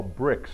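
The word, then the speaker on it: Brix: there's about 25 or 30% what they call bricks that's spelled b r IX and that's just another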